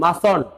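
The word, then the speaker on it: mustn't: মাস্ট নট লেখা যাবে না, আমরা লিখবো মাসন্ট, MUST এন কমা দিয়ে দিব, উচ্চারণ হচ্ছে মাসন্ট, মাসন্ট উই।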